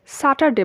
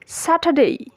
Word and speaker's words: Saturday: আমরা নর্মালি এটাকে স্যাটারডে বলি, বাট এটা সঠিক এবং শুদ্ধ উচ্চারণ হচ্ছে Saturday, Saturday.